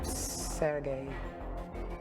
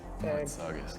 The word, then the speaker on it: Sargis: Sergei, is that the right pronunciation of your name? Sargis.